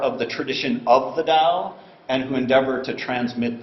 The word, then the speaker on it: Dao: as well as a dos cosmological and Theological concept atomically speaking the character Dao probably pronounced something like do in archaic and ancient Chinese consists of